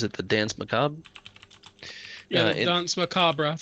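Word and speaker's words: danse macabre: the dance maab yeah dance macabra that's how you pronounce it in French okay so um see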